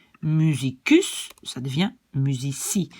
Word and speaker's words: musici: Musicus, ça devient musici. Et vous voyez que donc quand il y a un i qui suit, je prononce ça comme S. Donc politici, medici, musici.